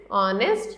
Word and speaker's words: honest: used before R and honest, क्योंकि इसमें H हमारा साइलेंट है. We use and before these words. H is silent in these words.